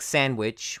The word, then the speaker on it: sandwich: have to learn them like sandwich where the D is not pronounced Wednesday is just a